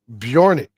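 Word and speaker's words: Björk: on it yeah yes her name is pronounced bjorck BJ and that's intentional oh okay I'm sorry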